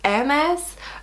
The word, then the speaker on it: Hermès: don't you own any meth bags and before I answer this I want to say I know I pronounce um as wrong I think it's AMS but I sound like